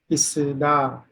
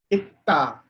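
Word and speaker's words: 있다: Itta. Very good. Double sa will also be pronounced as ta at the Pachim position.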